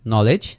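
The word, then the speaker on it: knowledge: একইভাবে আমরা পরের এক্সাম্পলগুলো যদি একটু দেখি, KNOWLEDG নলেজ, তাহলে এই খেটা আমাদের উচ্চারণ হচ্ছে না, আমরা এতটুকু উচ্চারণ করতেছি নলেজ।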